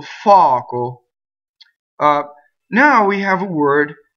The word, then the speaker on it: fuoco: So words that are possessive pronouns usually have a strong first vowel and a weak second vowel. So mio, suo, sua, mia, fuoco. So this is fire, fuoco. This is the old form of it. It's also in more modern Italian, fuoco, and it follows the uo where the u opens, right? So fuoco.